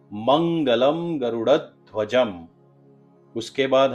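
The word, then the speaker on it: गरुडध्वजः: उसके बाद है मंगलम गरुड़ध्वजः, और एक है मंगलम गरुड़ध्वजम।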